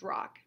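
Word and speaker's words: Rocque: your last name sport rock rock It's pronounced rock he Harriet felt Harriet felt very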